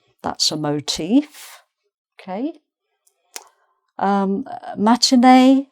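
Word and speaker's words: matinée: Um, matinea. Again, you may not have the accent on the e.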